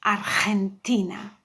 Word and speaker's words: Argentina: Now we come across a country that have a GE, and the GE is read like a very aspire H, Argentina.